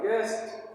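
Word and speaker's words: guest: यूई एस टी क्या हो जाएगा नहीं होगा गेस्ट क्योंकि य साइलेंट है य को नहीं बोलना है किसी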